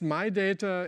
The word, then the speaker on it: Midata: So this is this model pronounced My Data in Switzerland, coming out